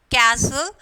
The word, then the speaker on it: castle: Um, for example, castle, the T is silent.